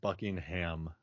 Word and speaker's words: Buckingham: when when yeah making a scene in in Buckingham Palace which for what I find curious about